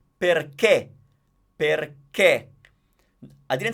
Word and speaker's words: perché: So, since it's pronounced perché, that is the accent that tells me that the E is stressed, but it's closed.